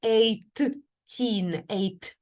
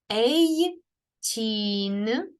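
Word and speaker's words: eighteen: теж має звук ч тому у нас не буде atteen ми вимовляємо цей звук один раз Ей чин Ей тінь тінь і останній звук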